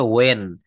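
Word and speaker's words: when: এটাকে কিন্তু আমি ভুল বললাম, এটা হোয়েন বলবেন না প্লিজ, এটা বলতে হবে ওয়েন।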